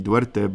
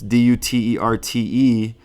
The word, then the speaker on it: Duterte: I thought it would be Duerte, but it's Duterte.